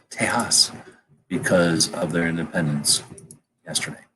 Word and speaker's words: Tejas: July 1 2017 and then Texas ours is pronounced Tejas because of their independence yesterday or this earlier